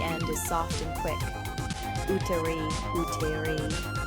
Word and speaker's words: úterý: Úterý, úterý. U as in moon and re like the first part of really. Notice how the accent on the U changes the sound.